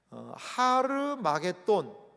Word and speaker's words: 하르마겟돈: 이 아마겟돈은 그 히브리어로는 정확하게 발음하면 이렇게 발음할 수 있다고 그래요. 하르마겟돈이라고 할 수 있습니다.